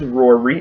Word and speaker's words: Raury: Anyway, this new artist from out of Georgia, his name is Raury. It's like, it rhymes with Maury.